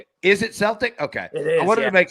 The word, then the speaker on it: Celtic: Uh Celtic says, "Why are you always late for my class, Mr.